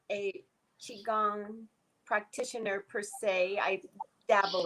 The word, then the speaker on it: qigong: might be for you to look into qigong it's spelled q-i-g-o-n-g qigong it's spelled different ways but that's the